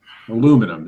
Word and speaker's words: aluminum: Aluminum. It's not aluminium. I lived in America for too long. I always pronounce it aluminum.